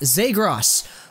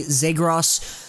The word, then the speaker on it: Zegras: we have ourselves today Trevor zros which I'm pretty sure that's the pronunciation I've heard most people say zros so I'm going to go with that myself zros is a